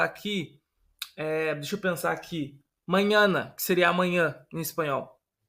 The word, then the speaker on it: mañana: Então sempre que você vê esse N, você vai pronunciar como se tivesse um NH.